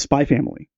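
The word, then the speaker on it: Spy × Family: It's not, you do not pronounce the X. Okay. It is Spy Family.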